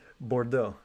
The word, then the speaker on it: Bordeaux: of bordeaux i'm pretty sure that's how it's pronounced yeah that's spot on yeah bordeaux the port town of bordeaux oh no i'm